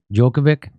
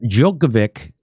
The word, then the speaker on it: Djokovic: Djokovic.